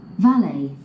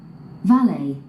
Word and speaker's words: valet: 두 가지 발음 알아두셔야만 합니다. Valid, valid, valet, valet, valid, valid, valet, valet.